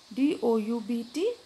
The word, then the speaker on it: doubt: Letters which are not sounded or pronounced in a word are called silent letters. Example, K-N-O-W, no, M-U-S-C-L-E, muscle, D-O-U-B-T, doubt, C-S-A-L-K, chalk.